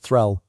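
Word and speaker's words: þræll: Known in Old Norse as thrall, pronounced threll, the thrall was the lowest possible status in Viking society, a human being stripped of name, kin and rights.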